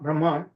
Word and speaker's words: Brahman: Brahman. So here's the word is called Brahman. I'm using the the western way of pronunciation.